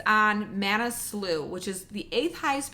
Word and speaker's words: Manaslu: I'm going to look at the word so I can pronounce it correctly. It's on Manaslu, which is the 8th highest peak in the